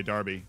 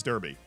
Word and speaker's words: Derby: And then that's how you say Derby. See, if I was actually speaking American English, that's Derby. But I know it's Derby, and I just, you know, be respectful of the local pronunciation on that one.